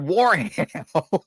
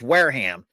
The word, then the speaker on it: Wareham: I don't think it's ham. Or Warham. Wareham. Oh my god. Warm or Wareham. Massachusetts states. Either way you were right, but like it's not ham.